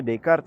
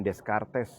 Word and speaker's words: Descartes: Bacanya Descartes ya, jangan Descartes gitu.